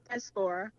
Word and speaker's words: diaspora: Diaspora.